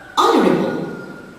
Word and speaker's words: honorable: Honorable. So the silent letter here is the mute H in the initial position.